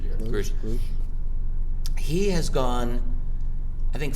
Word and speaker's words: Grusch: What's interesting, though, is this latest whistleblower, David Grusch, I think his name is pronounced Grusch.